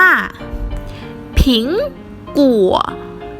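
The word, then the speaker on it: 苹果: เจียว ต่อ ไป แอปเปิ้ล แอปเปิ้ล ภาษา จีน อ่าน ว่า ผิง กู ผิง กลัว อีก รอบ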